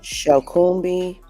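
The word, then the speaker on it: Shokunbi: Shakumbi. S H O K U N B I. That is how you say it.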